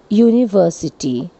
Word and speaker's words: university: with the vowel u, the U here sounds like yo, university, that is a consonant sound.